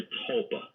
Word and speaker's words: tulpa: Collective consciousness creating something, and there's an ancient belief in what's called a tulpa. That's spelled T-U-L-P-A.